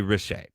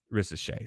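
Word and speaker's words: Risacher: So obviously this year is led by two overseas guys, and it's Alex Sarr and Zachary Richer. Now, or Richer, or I know the R is silent. He's French, okay?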